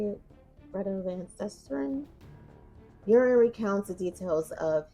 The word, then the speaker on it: Susteren: I believe that's how you say it, Greta Van Susteren.